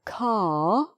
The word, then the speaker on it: car: Okay, so we drove, that's pronounced, the car, just R, not pronounced, to the garage, pronounced,